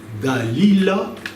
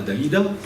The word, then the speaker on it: Dalila: Vous avez une femme qui s'appelle il faut bien prononcer Dalila et non pas Dalida.